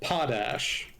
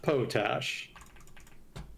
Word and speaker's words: potash: It's pronounced potash, not potash.